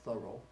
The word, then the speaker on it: Thoreau: some time ago his name is Henry David Thoreau pronounced Thoreau and I just found out I start like